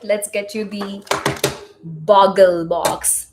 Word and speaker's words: Boggle: All right, let's get you the boggle box. Boggle, not bobble.